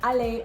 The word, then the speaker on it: aller: And the same thing goes for infinitive verbs that end in ER. Although R is the last consonant and it is part of this mnemonic that says careful, these consonants are pronounced. You are not going to hear the R. For example, in aller or monter.